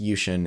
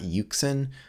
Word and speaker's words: Yuxin: I've been told it's pronounced Yushin. It's not Yuxin. But if you pronounce Yuxin, it's not bad.